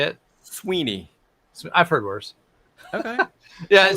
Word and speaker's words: Sweaney: I didn't hear how didd you say it Sweeney I've heard worse okay yeah so so it's sweny more of an A and 7 e literally nobody in my life has ever pronounced it so correctly so okay my my